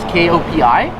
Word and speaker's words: Kopi: The tea is spelled T-E-H and the coffee is K-O-P-I. Teh and Kopi.